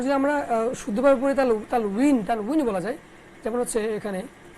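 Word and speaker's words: تنوين: তানভিন হয়তো উচ্চারণ না, তানউইন। ওয়াও তো, ওয়াওটাকে অনেক সময় আমরা ভ দিয়ে উচ্চারণ অনেক সময় করি, তো সেটাকে আমি চেঞ্জ করে দিচ্ছি। তানউইন, তানউইন। মূলত আরবিতে তানউইন, কিন্তু এখানে যেহেতু দেওয়া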